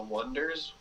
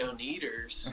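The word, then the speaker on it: Oneders: band called the uh called the wonders but it's spelled o e d e r s and like people like when they're starting out are like the on eaters and stuff and uh it's just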